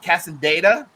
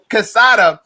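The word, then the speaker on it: Quesada: I'm gonna mess it up because I'm not Hispanic, but Casada. The Q sounds like a K, but it's whatever. Yeah. Casada.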